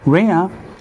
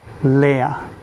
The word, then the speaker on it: Reah: And like her name says, her name is to be either pronounced as Rhea or Leah. So it's gonna be Leah or Reah. Either that is the L sounding of Langrisser in the Japanese version. So same as Elvis, Elu, and just Langrisser. So that's how you pronounce it in Japan.